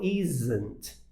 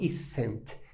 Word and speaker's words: isn't: à pronúncia tá e a pronúncia do S aí no caso do inglês ele tem um som de z né basicamente esse som né então isn't tá não isent não isn isn't só isso isn't tá e eu tenho